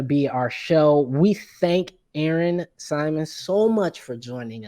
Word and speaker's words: Erin: And no, my name is not Arena. I know people see that A. It is Erin Ashley Simon.